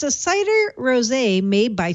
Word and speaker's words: rosé: I'm so glad it's pronounced rosé.